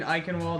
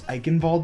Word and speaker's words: Eichenwalde: Mine is a tie between Eichenwald and Kings Row. Kings Row, it's so great. And Ilios and please- Ilios Ruins. Oh, Please Ilios! pronounce it right. It's Eichenwalde.